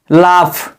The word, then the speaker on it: laugh: क्या पढ़ेंगे फ पढ़ेंगे यदि किसी भी शब्द के अंत में क्या लिखा हो दोस्तों ग लिखा हो तो ग का उच्चारण क्या पढ़ते हैं फ पढ़ते हैं जैसे लाफ laughness लिखा है दोस्तों